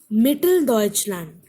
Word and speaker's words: Mitteldeutschland: Mitteldeutschland, Mitteldeutschland. Four syllables, stress is on me, Mitteldeutschland.